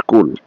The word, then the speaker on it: Coole: ওয়াইলস এট কুল বা কুলে যে উচ্চারণটাই কর টাইটেলটা খুব সিম্পল অর্থাৎ